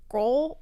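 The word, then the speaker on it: Grød: and it's kind of I'm gonna butcher the pronunciation it's like roll it's supposed to sound like gruel like porridge kind of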